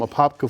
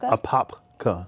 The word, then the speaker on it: Apopka: well like I said I started I'm from a popka Florida okay apka Apopka Apopka okay most people don't I I always